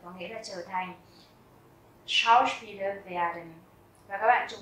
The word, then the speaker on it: Schauspieler: Schauspieler werden. Và các bạn chú ý là âm SCH ở đầu chữ đó chúng ta sẽ đọc là âm SH, tức là chữ SH rất là nặng. Schauspieler werden.